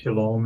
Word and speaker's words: Shalom: And the O sound in Shalom, where does that come from? It's from the Wa. O-W. The Wa. It's the Wa. Yeah, the Wa in Hebrew is pronounced either as a O or U. And the overwhelming percentage of the time, about 90% of the time, it's pronounced as O, as in Shalom.